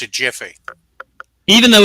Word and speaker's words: GIF: do you pronounce this is it with a hard G or a soft G and everybody says oh